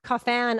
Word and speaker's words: Coffin: Yes, Pierre Coffin, I guess is how you say his last name, because he's French, does all the Minion voices again.